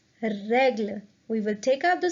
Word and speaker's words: règle: The first E of the word règle has an accent, so it will be pronounced as règle.